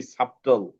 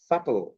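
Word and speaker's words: subtle: সাটল, কিন্তু আমরা অনেকেই আমরা কিন্তু বলি সাবটল, আমরা বলি সাবটল। হ্যাঁ, সাবটল বলি আমরা, but this is নট সাবটল। সাটল, সাটল, সাটল, সাটল, ঠিক আছে?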